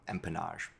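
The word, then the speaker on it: empennage: um which I will going forward remember as similar to pronouncing empanada but with kind of like a a French twist at the end. So empanage.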